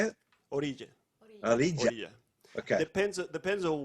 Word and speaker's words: Orilla: Orilla, Orilla.